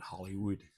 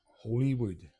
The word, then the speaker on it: Holywood: You probably all call it Hollywood, but it's spelled w o l l y. And the proper pronunciation of it is Holywood.